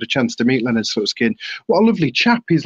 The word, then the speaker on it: Slutsky: Is that the correct pronunciation? Yeah, Leonard Slutsky.